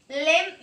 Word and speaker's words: limb: Limb means branch of a tree. Limb. L-I-M-B. B is silent. Here we only pronounce it as limb.